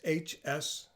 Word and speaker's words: Hsienmo: I know you don't pronounce the H, but it's Cinema. It's Hsienmo.